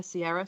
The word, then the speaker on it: Ciara: Ciara is spelled like the R&B singer Ciara, so it's Ciara.